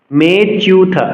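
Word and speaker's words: মেঽচ্যুত: এ চিহ্নকে অবগ্রহ বলে আমরা জানি তো সংস্কৃত শ্লোক উচ্চারণে এ চিহ্নকে আমরা উচ্চারণ করব না অনুচ্চারিত থাকবে অর্থাৎ এই চিহ্নকে এরিয়ে আমরা উচ্চারণ করব বলতে হবে মেচুতা আমি পুনরাবৃত্তি করছি স্থাপ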